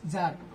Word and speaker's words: tsar: Russia was an autocracy and even at the beginning of द 20th century ज़ार, this is नॉट सार, okay, TSAR is pronounced as ज़ार.